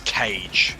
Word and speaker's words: Krieg: was like a cat I thought it was with the G like almost like a like kids engage from Striker or something oh it's cage yeah I know the